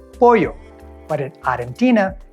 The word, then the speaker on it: pollo: understanding when someone says pollo. But in Argentina, that double L sound sounds like a shh. So a server telling you the special of the day at the restaurant is gonna say pollo.